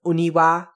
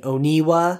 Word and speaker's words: Oniwa: And also, make sure with this name that you are pronouncing the wa at the end of Oniwa and not saying Oniwa. I feel like I'm saying that a lot.